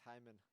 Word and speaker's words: Hyman: It's Lauren Hinman who. We're checking pronunciation here. Do we agree it's Hinman? It's Heineman? Heineman. It's Hyman. Lauren Hyman.